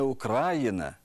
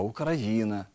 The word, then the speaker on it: Україна: у яких найбільше помиляєтесь не український а український не Україна а Україна не 11 14 а